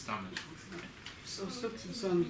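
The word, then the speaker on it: Tamás: I hope I pronounced it Yes. correctly. I don't. Yeah, it's Tomasz.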